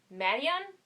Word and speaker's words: Madeon: Madeon, I think is how you say it. It's spelled like made and then on, Madeon.